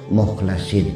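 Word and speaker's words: مُخْلَصِين: Awas, bacanya jangan salah. Illa ibadaka minhumul mukhlasin.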